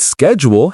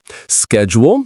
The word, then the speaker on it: schedule: The word schedule has two common pronunciations. Schedule in American English and schedule in British English.